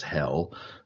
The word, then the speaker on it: Hel: It's pronounced hell.